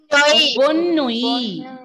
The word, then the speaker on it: bonne nuit: Ending letter T will be silent. Bonnui.